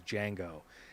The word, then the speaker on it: Django: name or something and jamie foxx goes django and then he goes the d is silent and then he says